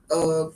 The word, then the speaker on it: Monalissa: Monalissa Monalissa.